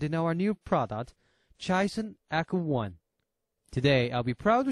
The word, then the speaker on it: ECO: soundtech knowledge like apple so we took the same pronunciation Echo like echography for the easy memory the second reason is